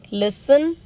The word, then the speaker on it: listen: Again, castle, Christmas, fasten, listen, often, whistle, bustle, hasten, soften, rapo, gourmet, ballet. Okay, now silent U.